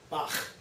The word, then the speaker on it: Bach: one of them is the sound at the end of the composer's name, Bach, because that's what we say it. Okay? It's not the way they say it in Germany. It's a softer sound, it's more Bach, Bach.